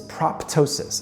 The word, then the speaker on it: proptosis: Medical term for this is ptosis, again, silent P in the middle.